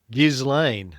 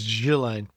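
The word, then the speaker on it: Ghislaine: I used to pronounce it Gizlane. Yeah, it's Jillain. Um, chatt Tony, I know you're you you love your AI.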